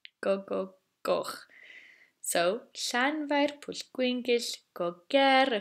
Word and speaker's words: Gogogoch: And everyone's favourite part, Gogogoch. Gogogoch. So, Llanfair Pwllgwyngyll go ger chwyrndrobwll, Llantysilio Gogogoch. Now, let's try that one more time, slowly. Llanfair Pwllgwyngyll go ger chwyrndrobwll, Llantysilio Gogogoch.